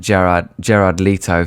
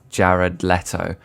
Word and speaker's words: Jared Leto: I've been pronouncing it Gerard Leto for my whole life, but apparently it's pronounced Jared Leto.